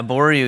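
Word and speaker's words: Abouriou: It seems like you have maybe the only stand out there of Arboreaux, if that's the way you pronounce it. Yeah, Arboreaux.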